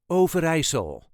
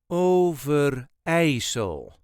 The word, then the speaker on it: Overijssel: way us duchies say over isol over there is a very slight emphasis on the third syllable over ASO o ver a so